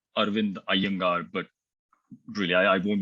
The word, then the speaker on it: Arvind: to Janes for organizing this conference I normally pronounce my name arind AAR but really I won't be offended if